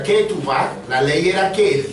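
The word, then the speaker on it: כתובה: Eso en hebreo se pronuncia ketubah.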